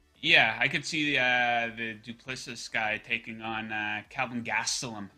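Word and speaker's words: Du Plessis: I do think the next guy that he's going to fight is how do you pronounce his name? Duplessis? The South African guy? Yeah, Duplessis, yeah.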